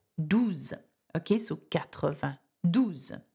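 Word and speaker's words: douze: how do you say 12 in French its dues okay so get over do them now what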